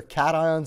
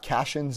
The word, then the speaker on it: cations: They're cations and anions. They're not cations and anions, even though it sort of looks that way pronunciation-wise.